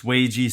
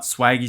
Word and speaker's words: Swagy: I have since been informed that it is pronounced Swayze strong and not swaggy strong so you're gonna have to put up